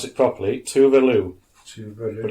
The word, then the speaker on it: Tove Lo: So, Swedish pop singer, and I'll pronounce it properly, Tove Lo, but it's pronounced How do you spell it?